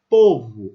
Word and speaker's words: povo: Esse o tônico não é o mesmo som que esse u. Povo, olha a minha boca, povo. Esse u é uma vogal entre o o e o u.